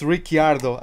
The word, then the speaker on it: Ricciardo: talking about him, and he was calling him Ricciardo, so I suppose that's how his name is supposed to be pronounced then. And yeah, that's how I call him now then. It's Ricciardo.